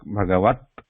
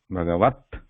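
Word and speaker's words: भगवत्: But when I say this consonant, the tongue part, whatever consonant it is there, it is pressed closely, and no vowel sound actually comes out, should not come out. Like Bhagavat, Bhagavat.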